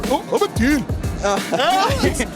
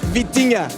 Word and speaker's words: Vitinha: Vitinha. Vitinha. Vitinha.